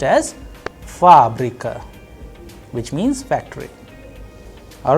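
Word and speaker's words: фабрика: you have fabrica there the stress is on first ah that is why it is under stress the sound of first ah is higher than the rest so it is being pronounced as fabrika which means factory all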